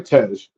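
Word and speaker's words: Tej: Brian befriends car savvy um how do you pronounce dude's name? Uh, Tz. Lud ludicrous. Tez. Yeah. Yeah. Tez.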